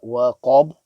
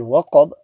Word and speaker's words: وقب: So ghasiqin idha waqab. And the last word waqab, there's a qaf which is full mouth, in making sure that the waw remains empty mouth.